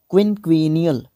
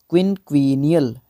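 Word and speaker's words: quinquennial: देखो क्विनक्विनियल, देखो QUIN एक सलेबल, QUE क्विन और फिर ईनियल ENNIAL क्विनक्विनियल है ना।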